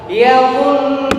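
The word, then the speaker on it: يَظُنُّونَ: Perhatiin gunnahnya 2 sampai 3 ketukan. Yadhunnuna. Cukup tuh 2.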